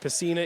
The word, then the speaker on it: Pacina: I was deciding how I wanted to pronounce that one. I'm going to go with Pacina. Okay, let's do it. Pacina, we'll make a decision. I like it. Pacina. Good. We're right by Well, we're right by the crowd here and we got a very great fan from Hamilton letting us know that Pacina is the correct pronunciate.